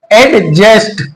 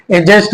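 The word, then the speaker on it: adjust: रहा है तो इसलिए इसको क्या बोलेंगे एड जस्ट नहीं बल्कि डी के ज से पहले जो है डी हमारा आया तो डी साइलेंट हो जाएगा तो क्या बोलेंगे ए जस्ट बोलेंगे ऐसे ही एड जडी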